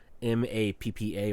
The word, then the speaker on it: MAPPA: doing this is uh m-a-p-p-a or mop mappa I think people pronounce it but it's actually just an acronym but um it is